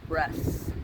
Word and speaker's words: Bresse: boys are good for eating breasts they're called breasts yes you want to spell that sarah b-r-e-s-s-e so we only have five